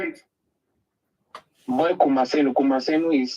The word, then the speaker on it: Kumasenu: Boy Kumasenu. Kumasenu is spelled it's Boy Kumasenu.